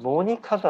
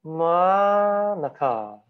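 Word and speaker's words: Monica: 모니카가 아니라 마나카. 요거는요. 대충 발음이에요. 슈아 발음. 자, 슈아 발음이 뭔지를 한번 인터넷에 검색해 보세요, 여러분. 자, 발음 기원 이렇게 생겼는데요. 대충 발음하는 거. 대충. 아무 힘 없이 발음.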